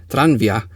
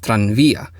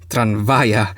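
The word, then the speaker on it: tranvía: Most would go to the Philippineized version tranvia instead of the Spanish pronunciation of tranvia with an emphasis on the v portion of the word.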